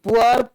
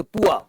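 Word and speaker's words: poor: कौन सा हां जी पुअर पुअर नहीं बोलते पुआ एक पुअरा नहीं पुआ शॉर्ट एक व बोलते पुआ पुआ पुअर पूरेस्ट हा आर साइलेंट है लेकिन जब रर लगाएंगे तो बोलना पड़ेगा पुआर बहुत सुंदर बहुत देखो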